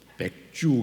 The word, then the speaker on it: 맥추: 발음을 잘 하셔야 돼요. 맥주 감사 주일 이렇게 하시면 안 됩니다.